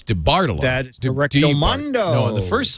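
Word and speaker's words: DeBartolo: the bottom line right because you put the emphasis on the second syllable it's de bartolo that's directed the first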